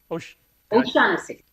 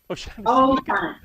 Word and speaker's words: O'Shaughnessy: O'Shaughnessy. O'Shaughnessy.